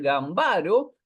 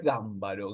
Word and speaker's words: Gámbaro: y es sábato y acá estamos ante el mismo caso Debería ser gambaro pero es gámbaro Griselda gámbaro bueno es